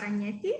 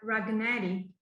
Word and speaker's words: Ragnetti: doing yachting okay so my name is ragnetti has you already pronounced very well because normally people pronounce my surname like ragnari and when i speak